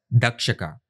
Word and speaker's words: Takshaka: Takshaka can also be pronounced as dakshaka. Duck plus shaka.